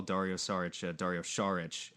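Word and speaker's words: Šarić: I did notice earlier in the episode that you made special attention to call Dario Saric today, which is the actual pronunciation.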